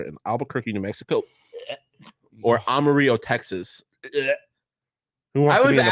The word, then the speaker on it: Amarillo: It's not Armadillo. No, That's- armadillo. The fuck? It's AMARILLO.